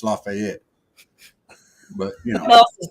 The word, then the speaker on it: Lafayette: you say it laat they call it lafay in Georgia the southern draw you know lafay I gotta go down often so I can uh study yes I don't care who in down there lives in that town wants to call it lafayet they're wrong it's lafette but you know else